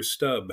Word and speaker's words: Stubbe: It would be Peter Stub.